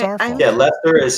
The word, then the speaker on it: Worcester: Yeah, Lester is spelled Lester, and I'll be damned if it's spelled that way on the sign.